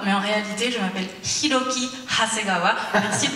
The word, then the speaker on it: Hiroki: Bonjour, je m'appelle Hiroki Hasegawa, mais en réalité, je m'appelle Hiroki Hasegawa. Merci de prononcer le H.